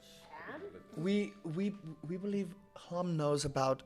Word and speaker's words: Hlam: Clam? Hlam, that's how you say it.